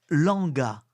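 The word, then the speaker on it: Lwanga: 9e semaine du temps ordinaire l'église faite Saint-Charles Langa Langa s'écrit l W A n g Langa et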